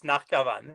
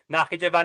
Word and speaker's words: Nakhchivan: It's Nakhichevan is a Russified spelling, if I'm not mistaken. So in like medieval Armenians would call it Nakhchivan, which is actually similar to Azerbaijan's pronunciation today more than Nakhichevan.